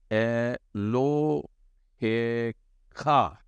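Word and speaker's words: אֱלֹהֶיךָ: तो लगता था कि एलोहीम बोलेंगे, लेकिन आखिरी शब्द फाइनल मेम नहीं है, परंतु काफ है, फाइनल काफ। ठीक है, तो इसका उच्चारण होगा एलो हे खा, एलो हे खा।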